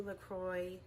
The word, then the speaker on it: LaCroix: Lately LaCroix rhymes with enjoy, has been in the news lately, something about like a lawsuit.